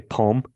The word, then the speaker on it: poem: I believe poem has 2 syllables. That's the way I read it. I think that's a mispronunciation. And I knew exactly. I knew you were going to say. I knew that's where the discrepancy was. I knew that you were counting poem as 1 syllable, while the emailer was counting it as 2.